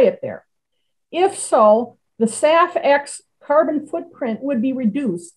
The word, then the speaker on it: SAF: is sustainable aviation fuel abbreviated as saf and pronounced saf hence the project named safx renewable fuels have